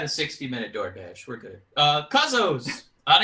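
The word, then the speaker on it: Kuzzo's: If you're new to the term Cuzzo's, that's how you pronounce it.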